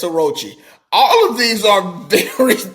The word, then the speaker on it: Orochi: St Charlos Aku or or is it Orochi the dude from uh wano is it Orochi did I say his name right yes it's Orochi all of these are